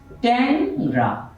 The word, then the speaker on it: টেংরা: আমরা যদি লিখি টেংরা, টেংরা, এর উচ্চারণ হবে ট্যাংরা।